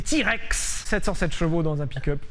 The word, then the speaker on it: TRX: En plus, il existe en TRX prononcé T-Rex 77 chevaux dans un pickup.